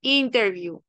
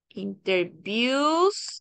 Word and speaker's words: interview: a cambiar el acento interview donde se enfatiza en la primera sílaba interview Ahora cuando interviews intervius me interviews quiere decir que el acento oral cambia la última sílaba interviews me She interviews